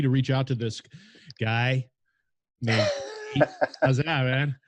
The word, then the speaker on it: Guy: So again, LinkedIn, first name Guy, so Guy, but it's pronounced Guy.